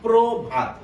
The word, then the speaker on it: প্রভাত: আপনাদের উদাহরণটা দিকে একটু খেয়াল করুন, আমি একদম ভেঙে চুরে বিশ্লেষণ করে দিয়েছি। প্রভাত, প্রভাত, প্রভাত হচ্ছে বানানগত ভাবে উচ্চারণ করলে, কিন্তু উচ্চারণগত উচ্চারণ সঠিক হচ্ছে প্রভাত।